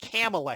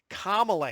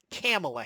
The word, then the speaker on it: Kamala: I know that in India it would be pronounced Camala Harris and I know that there's other you